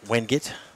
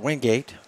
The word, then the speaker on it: Wingate: but having been to Wingate in the past, I pronounced it Wingate. Absolutely. Someone there at the school said, no, it's Wingate.